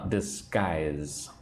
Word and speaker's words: disguise: Uh, disguise. So, disguise. Disguise. But the G is more like a C. C. Disguise. Disguise. Disguise. Two parts, right? Two syllables.